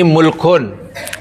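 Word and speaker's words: مُلْك: Malik apa tuh ini mulkun Ini bacanya mulku kalau ini namanya maliku maliku kalau ini milku baris Malaka sama kan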